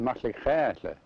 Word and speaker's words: Maxlaxaala: The name Metlakatla is just, well, it came from old Metlakatla, BC, and Metlakatla is pronounced Metlakatla. That means a real quiet channel, just the opposite of what you see here.